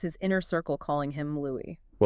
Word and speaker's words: Louis: And in it, you can hear her very clearly and casually pronouncing her late husband's name as Louie.